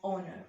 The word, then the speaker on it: honor: sounds that they make so in honor we pronounce it as honor right so what is this a vowel sound right that's why we